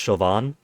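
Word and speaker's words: Siobhan: Now, I have played these before, but it's been so so long that the most I remember from this is Sioban is pronounced chauvin.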